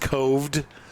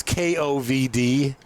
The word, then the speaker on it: Kovd: Yeah, it's actually pronounced Coved. It's Kovd. And it came out right when COVID started. I think they did that on purpose, but I don't know. But I pronounce it Lake COVID just spitefully.